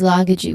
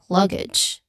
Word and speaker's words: luggage: Again they commonly mistake or they common they mistakenly say this word is luggagey which is not not its correct pronunciation. It should be luggage. Luggage where it has two syllables only.